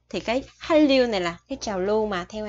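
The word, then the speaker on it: 한류: Này là quy tắc phát âm, bạch chim là chữ N, theo sau nó là chữ R, thì chữ N này mình sẽ đọc là R.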